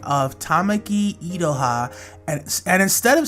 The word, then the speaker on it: Tamaki Iroha: I made a mistake when it comes to pronouncing the name of Tamaki Idoha, and instead of saying her name in the way I just did, I refer to her as It Roha throughout this video you're about to see.